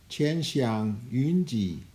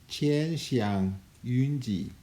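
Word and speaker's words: 千祥雲集: And in Chinese it's pronounced Qian Xiang Yun Ji. Qian Xiang Yun Ji.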